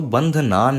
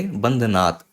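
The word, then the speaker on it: बन्धनान्: तो बंधनान मृत्योर्मुक्षीय आप ऐसे बोलेंगे, बंधनात् आप ऐसे ना बोलिएगा, ठीक है।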